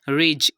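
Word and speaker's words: ridge: यहाँ पर भी हम देख सकते हैं कि डी से पहले आई आया जो कि मैंने आपको पहले ही बता दिया कि आई भी वॉवेल होता है, और डी के बाद जी ई आ गया, तो इसकी प्रोनाउंसिएशन हमने की रिच। यहाँ पर भी डी को साइलेंट कर दिया।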